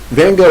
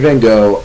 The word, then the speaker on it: Van Gogh: So Van Gogh is a really interesting guy in that we know quite a lot about him.